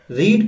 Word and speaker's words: read: रीड को जब हम सेकंड या थर्ड फॉर्म में लेते हैं तो स्पेलिंग तो रीड ही रहता है, READ, लेकिन प्रोनाउंसिएशन क्या हो जाता है, रेड।